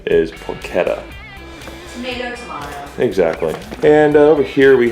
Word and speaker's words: porchetta: outside I was corrected by a viewer it's pronounced porchetta rub but I say porchetta or just call whatever you want to but he said the actual pronunciation is porchetta exactly and over here we have I got